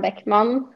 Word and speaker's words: Bäckman: directly from you okay my name is beckmann but they call me back my name in